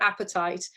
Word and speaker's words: apatite: And so blue apatite is really useful. This is probably, and it's called apatite.